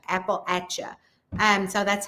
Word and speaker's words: Appalachia: So, think of it as an apple at like I'm throwing an apple at. So, that's how you say it is appalacha. Apple ata.